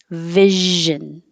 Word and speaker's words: vision: don't have any options no three syllables just two syllables vision that's it oh that